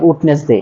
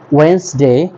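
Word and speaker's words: Wednesday: এবং টিউসডে এরপর আছে আমাদের আমরা আগে বলতাম উডনেসডে এটাকে ভুল এটা হবে আমাদের ওয়েনসডে এটা হবে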